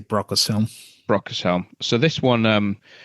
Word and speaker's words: Brocas Helm: Oh, uh, yeah, I usually say Brocas Helm.